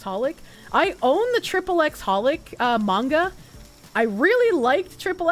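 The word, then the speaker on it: xxxHOLiC: It's just Holic. Whatever! I also pronounce the X in Hunter x Hunter.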